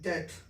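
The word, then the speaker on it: debt: आज तक आप इसको डेप्ट पढ़ते आ रहे थे, लेकिन डेप्ट सही उच्चारण नहीं है, उच्चारण सही क्या है? डेट।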